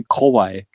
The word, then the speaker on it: kawaii: Um, well, the way you said it sounded more like a word that's weirdly similar. So, you can say kawaii. Uh, koi.